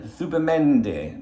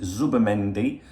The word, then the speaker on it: Zubimendi: But I've come to talk to you actually about Martin Zubimendi. Now, I know you want to pronounce it Zubimendi or whatever, but Z in Spanish is pronounced TH.